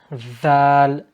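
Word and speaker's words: ذ: Next letter Dhal. Dhal. Look at where my tongue is.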